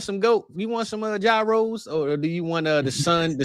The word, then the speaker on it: gyros: can we get some euros?" And he's like, "What? What the hell are euros? You mean gyros?" I'm like, Dad, that's not how they say it. Some people say euros. I say gyros.